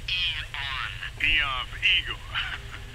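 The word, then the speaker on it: AEON: With the state of the world today, the AR program is... Eon. I'm sorry? It's pronounced Eon.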